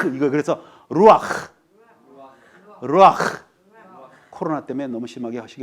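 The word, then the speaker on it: רוּחַ: 루아흐. 흐 할 때 뭐가 침이 나와도 근데 이제 코로나 때문에 좀 조심하겠는데 히브리 사람들의 발음은 흐예요. 이거 그래서 루아흐.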